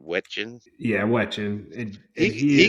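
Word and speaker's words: Wetjen: Wetchin.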